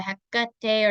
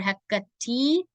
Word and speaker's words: Hekate: So the Hekate or Hekate, you can do it either way, Hekate or Hekate. I've heard it either one. But just make sure that you're pronouncing it right. A lot of people, like I said, they don't emphasize the Heka. It's the ka that really needs to be like emphasized.